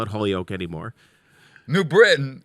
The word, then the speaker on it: New Britain: New Britain is called New Britain. Yeah. But it's not New Britain. It doesn't have a T.